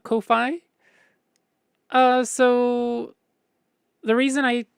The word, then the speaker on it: Ko-fi: um and so I I look at ko-fi and go oh that's meant to be coffee that that's absolutely meant to be coffee um and that's how I pronounce it oh that's what that